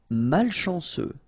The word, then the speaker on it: malchanceux: Malchanceux. Final X not pronounced. C-E-U, ce, malchanceux.